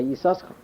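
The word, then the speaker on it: Yissachar: So then you pronounce both sins. You say Yisachar.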